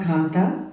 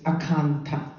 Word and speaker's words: akanta: That is the reason when I am so particular about the way it is pronounced, it is not kanta, it is akanta.